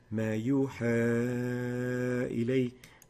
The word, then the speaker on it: ما يوحى إلي: The proper way to pronounce that is ما يوحى إلي.